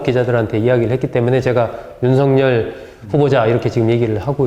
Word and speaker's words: 윤석열: 정 의원님, 이렇게 어쨌든 이 윤석열이라고 제가 발음을 하는데, 이 제대로 우리 국어 맞춤법에 따르면 윤석열 이렇게 해야 되는데, 본인이 난 어렸을 때부터 윤석열 이렇게 불러왔으니까 그렇게 불러달라고 기자들한테 이야기를 했기 때문에 제가 윤석열 후보자 이렇게 지금 얘기를 하고 있습니다.